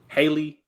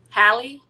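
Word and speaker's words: Halle: So, um, y'all remember how when I always say her name wrong, Haley, uh, Haley Hallie Bailey.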